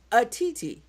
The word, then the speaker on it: Otiti: Now, it's spelled Otiti, right? Correct, But it's correct. pronounced Atiti.